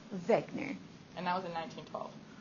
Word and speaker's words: Wegener: He is German, so the W is a V. Wegener.